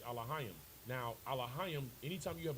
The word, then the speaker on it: Elohim: The proper pronunciation is Elohim.